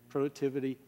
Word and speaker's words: productivity: will not change productivity productivity rhymes with activity not with information thank you miss puto